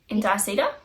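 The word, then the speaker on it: Indiecita: Indicedar? Indicedar. I think they're Or indie cedar? Like the word indie? yeah, it's from Peru. So it's Indie cedar.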